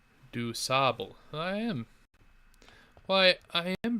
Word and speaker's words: DuSable: DuSable pronunciation. DuSable.